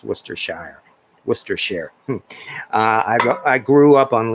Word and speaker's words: Worcestershire: And yes, I do know how to pronounce Worcestershire.